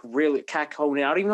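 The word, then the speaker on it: Kähkönen: like with Lankinen, like Kakkonen's been like really Kakkonen. I don't even know how you pronounce his name. Yeah, Kakkonen.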